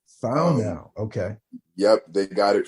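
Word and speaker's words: whānau: now or is it something else so it's pronounced foul now found now okay yep they got it from the new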